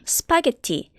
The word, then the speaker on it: spaghetti: 그런데 또 재밌는 건 스파게티에 요 S 대신에 엉뚱한 자음이 들어가서 아주 이상하게 발음을 해도 3음절로 발음하고 두 번째 음절에 강세를 줘서 예를 들면 스파게티 혹은 스파게티라고 해도 모든 원어민들은 스파게티로 알아들을 수 있어요.